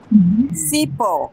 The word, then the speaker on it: cipó: Interessam eu saber qual é a sílaba forte. Lembra como eu ensinei a achar a sílaba tônica das palavras? É o O. É o pó.